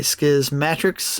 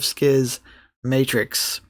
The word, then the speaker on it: Schismatrix: In the introduction to Skismatrix Plus, Bruce does go into uh how to pronounce Schismatrix and he compares it to Schismatics. So that's why I say Skisi Matrix instead of Skiis Matrix.